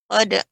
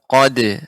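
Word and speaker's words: قَدْ: Qad aflaha man tazakka. Ya, perhatikan pengucapan dal, qad, tidak qad. Ya, qad. Qad aflaha man tazakka.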